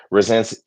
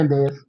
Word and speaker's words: Resendez: I didn't see Resens damn, I'm saying his name wrong again. Resendez. Resendez.